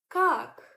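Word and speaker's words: как: Let's take word kak, kak, which means how.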